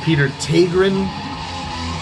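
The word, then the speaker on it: Peter Tägtgren: Also, it was recorded by, I'm told it's pronounced Peter Tegren.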